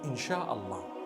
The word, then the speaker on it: إن شاء الله: No one says inshi Allah. They say InshaAllah. That's what it is. So I think we needed to correct this. Assalamu alaikum. Each time I write InshaAllah in English, people comment